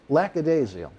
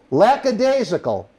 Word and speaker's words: lackadaisical: ago yeah lack of daisy lack of date lackadaisial am i saying it right prodigy laxation no lackadaisical i'm still not it's been a long day